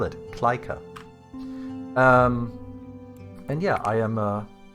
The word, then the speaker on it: Klyka: But my name is Kleika. It's K-L-Y-K-A. I can quickly switch to. This is how you spell it, Kleika.